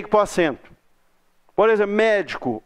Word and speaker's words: médico: Por exemplo, médico. Onde que está a sílaba tônica de médico? No mé. Tem 3 sílabas. A última é o có, a penúltima é o di, a antepenúltima é o mé.